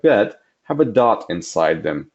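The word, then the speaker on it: בית: The letter Bet makes a B sound as an English word ball, which you will see at the bottom.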